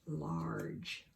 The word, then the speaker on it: large: the normal sound but there's that tricky G again so the job that is doing this time that hard-working letter e is to make that GE sound like a J you got to remember